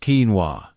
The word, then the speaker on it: quinoa: Pronounced quinoa.